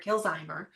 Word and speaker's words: Kilzheimer: I've been saying her name wrong all along, but Deborah Kilzheimer.